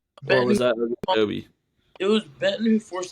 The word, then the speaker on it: Ogunjobi: It was him and Larry Ojigbinobi. I always pronounce that wrong. Larry Ogunjobi.